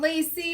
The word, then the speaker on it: Lacey: Her name is spelled Lacey, but pronounced Lace.